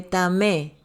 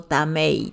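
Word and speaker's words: טמא: El que come animales limpios que no han sido matados correctamente, se vuelve tamé, o sea, o tamei también se puede pronunciar, que es ritualmente impuro, o sea, se vuelve impuro.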